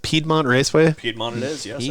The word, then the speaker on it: Piedmont: I want to say is how it's pronounced. Piedmont Raceway.